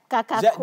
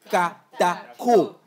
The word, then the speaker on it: Katako: Tu as dit Kakako. D'abord, j'ai commencé par Kakako. Kakato, après j'ai fait Katato, après j'ai fait Katota. Finalement, après 2 semaines d'enseignement supérieur en prononciation des noms, je l'ai eu. C'est Roch Katako.